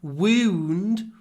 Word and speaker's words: wound: the wound the wound tried to pronounce it correctly woo woo woo woo look at my lips wound wound the wound didn't